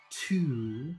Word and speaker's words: to: So to becomes da in a sentence. Short, da.